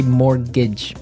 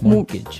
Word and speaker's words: mortgage: with a t yeah it has a t in it but you don't pronounce it you say morgage morgage so not Mort mortgage